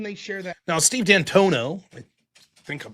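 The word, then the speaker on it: D'Antuono: Now, Steve Dantono, I think I'm pronouncing that correct.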